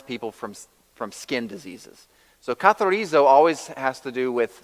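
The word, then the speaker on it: καθαρίζω: You pronounce it katharizo.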